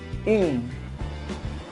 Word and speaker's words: une: Pero, ojo, se pronuncia in. In. In. Es como si quisieras decir in, pero la boca la haces como una U.